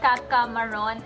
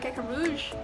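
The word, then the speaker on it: Caca Rouge: yeah, so I tried the Lush Kaka Maroon and Maroon? Is that how you say it? I It's think not maroon? Okay. I Well, I think tried Kaka Rouge.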